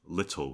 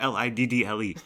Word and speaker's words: little: That's little with 2 T's. People pronounce little. No, it's not Liddle. Okay, there's 2 T's.